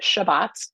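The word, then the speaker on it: שבת: look on page 148 the word Sabbath is a Hebrew word it's pronounced Shabbat in Hebrew and it literally means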